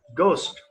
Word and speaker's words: ghost: Well, okay, now the next word is ghost. Yes. Ghost. G-H-O-S-T. Ghost. Ghost. Okay? Right. So H is silent here.